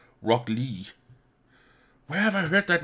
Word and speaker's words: Rock Lee: Oh, where the fuck has I heard, have I heard the, it's not Rocky Lee as it's spelled here. I see it as Rocky L-E-E. Rock Lee.